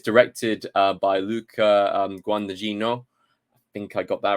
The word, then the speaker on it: Luca Guadagnino: It is directed by, I want to get this pronunciation right, it's directed by Luca Guadagnino. I think I got that right, Guadagnino.